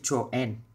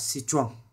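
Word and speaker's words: Citroën: xe đến từ Pháp đa số đọc là Cro chúng ta nên phát âm là citron citron hãng siêu xe đến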